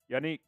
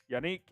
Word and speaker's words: Yannick: watch get some shout outs here please it's pronounced Yannick it's actually not it's Unique we found that out yanique yanique in gakway uh Tariq Stevenson from Anthony Brady